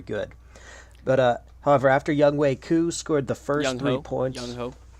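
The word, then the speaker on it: Younghoe: I don't know the the broadcaster's were saying young way I I'm pretty sure on the depth chart he's this is young Hoku I don't know though yeah but I think it's pronounced young way really I think that's crazy yes at least that's how they said it on NFL Network sorry ku he scored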